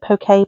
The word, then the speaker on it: poke: I pronounce it. Pokey pokey.